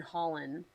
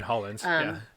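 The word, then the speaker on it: Hollens: And then the third one was by Evan Holland. Yeah, I think that's how you pronounce her name. Evan Hollins.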